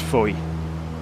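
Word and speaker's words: Fowey: On the far side is the town of Foy. It's spel but is pronounced Foy.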